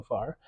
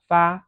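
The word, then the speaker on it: 发: This character is pronounced fa or fa and has different meanings. If it's pronounced with the first tone, fa, it means to send. If it's pronounced with the fourth tone, fa, it means hair.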